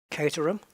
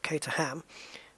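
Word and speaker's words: Caterham: Caterum. Not cater. There's no food involved. It's not ham. Not kater ham. Caterum. The H is silent.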